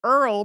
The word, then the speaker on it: Earl: virile I later adopted Earl primarily because it rhymes with girl the creature of Enchantment